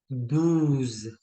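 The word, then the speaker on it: douze: फॉर 12 we have दूज दूज तो इसमें एक नई साउंड प्रोड्यूस हम हम ऐड कर रहे हैं वच इज ओ यू साउंड जब भी आपका ओ प्लस यू आ जाएगा तो साउंड आपकी बनेगी ऊ साउंड राइट तो फ्रेंच में साउंड्स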